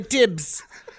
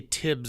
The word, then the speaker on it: dibs: his dad and said Weezy dibs or dibs and he goes well we say Tibbs in our house because we say dibs wrong and I will never